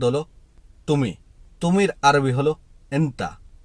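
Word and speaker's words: أنتَ: তুমি তুমির আরবি হলো ইন্তা আবার কেউ কেউ আন্তা বলে থাকে তবে ইন্তা হলো সঠিক শব্দ আনতা এটা একেবারে আঞ্চলিক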